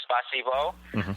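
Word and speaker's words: спасибо: You would say spasiba or spasibo, which is my butchered English pronunciation of thank you. Spasiba. Spasiba, yes.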